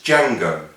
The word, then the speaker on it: Django: Oh, and it's Django. The D is silent.